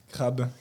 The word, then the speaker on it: Crab: Genre C'est crap. cool. Il faut Crab. le prononcer à la French.